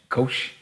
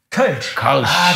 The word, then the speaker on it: Kölsch: And especially because everybody's so proud of it here, like I'm going to pronounce it wrong, but the Kolsch in Cologne, like the little ones. Kölsch. Kölsch.